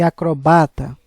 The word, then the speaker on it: acrobata: Acróbata, proparoxítona, e acrobata, que é paroxítona.